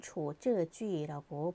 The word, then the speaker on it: 处置句: 해당하는 처치문에 대해서 살펴봅니다 처치문은 초저주의라고 발음을 합니다 처치문이란 동작에 대상에 해당하는